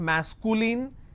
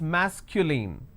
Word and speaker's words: masculine: It's not masculine, it's masculine. Feminine or feminine.